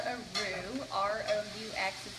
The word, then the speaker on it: roux: and broth, which essentially makes what's called a roux, R-O-U-X is how that's spelled, to kind of give you that thick